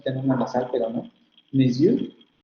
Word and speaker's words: monsieur: Excepto en la primera sílaba de maison, aquí la tenemos escrita así, maison, de monsieur, que la vamos a tener escrita monsieur, monsieur, que la vamos a